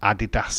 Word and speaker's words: Adidas: Oh no, we have to say the I. Adidas. It's actually German, and they call it Adidas in Germany.